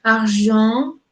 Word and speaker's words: argent: Bueno, esa sí se pronuncia así, pero hay otras que se pronuncian, por ejemplo, argent, que llevamos el aire hacia la nariz.